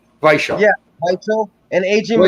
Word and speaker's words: Weichel: Daniel Weichel. Yeah, Weichel. And A.J. McKee. You say it like a V because it's got a belt coming up.